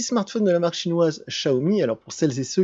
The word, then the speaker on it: Xiaomi: sur ce petit smartphone de la marque chinoise chahoumi alors pour celles et ceux qui ne savent pas ça ne se prononcent pas xi a omis ça se prononce